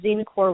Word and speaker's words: Xenecore: me just point out it's Dean core with an X so for those of